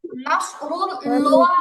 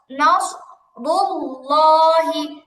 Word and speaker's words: نصر الله: আপু দেখেন, নাসরুল লোয়া হবে না, লোয়া বললে তাহলে তো হলো না, একদম সোজা উচ্চারণ হবে লহি। কি হবে আপু? লহি। করা যাবে না। হ্যাঁ, খেয়াল করি, এমন করা যাবে না আগে চিকন করে বললাম পরে মোটা করলাম, লোয়া এরকম টাইপের উচ্চারণ মোটেও করা যাবে না। নাস, নাস রুল্লাহি, নাস রুল্লাহি।